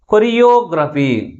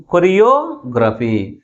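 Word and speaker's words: choreography: కొరియోగ్రఫీ. కొరియోగ్రఫీ అంటే third syllable మిగిలిన syllables కంటే ఎక్కువ ఫోర్స్గా పలుకుతుంది అనమాట.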